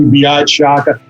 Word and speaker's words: Biagio: be here absolute pleasure let me make this easier on your audience though my name is actually beyonce just so you don't think you're pronouncing an appetizer on an italian menu my friends call me